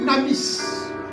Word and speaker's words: dunamis: est question là c'est celle qu'on appelle damis mais ça s'écrit Dunamis Dunamis donc cette puissance en